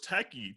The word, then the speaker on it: Takei: And honestly, and the sad thing too, the person that started Proud Boys was George Takei.